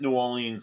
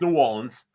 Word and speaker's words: New Orleans: as we travel to the historically and cultural culturally Rich City of New Orleans Louisiana um not New Orleans like some people mispronounce the word but it's New Orleans we're going to go to New Orleans it